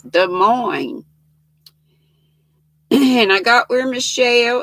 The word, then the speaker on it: Des Moines: in des moines iowa which looks like des moines but you don't pronounce the s's des moines and i got where